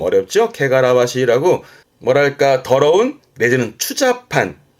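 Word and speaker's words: 汚らわしい: 게가라와시 요게 에원 때 보여지는데 발음 좀 어렵죠. 케가라와시라고 뭐랄까 더러운 내지는 추판 뭐 예를 들어서 뭐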